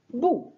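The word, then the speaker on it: 不: Autre caractère archi connu qui va changer de ton, bu, bu, quatrième ton, qui deviendra bu, deuxième ton, devant un autre quatrième ton.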